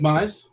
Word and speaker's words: Mize: uh the miz mize what what's the official pronunciation i believe it's mize mize yeah uh has definitely